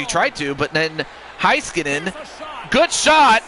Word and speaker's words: Heiskanen: Oh, that's how you pronounce it. Heiskanen.